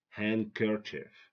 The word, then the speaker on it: handkerchief: cluster consonant I mean when we have three succeeded consonants we drop the middle one we don't pronounce the middle one like handkerchief Castle don't say Casto